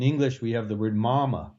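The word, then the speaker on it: мама: Well, Russian has it too, but it's not pronounced the same. Mama, mama. And so mama, mama. What is different? It's the hard consonants. And so I get English speakers to start doing the hard consonants correctly as well as the soft consonants.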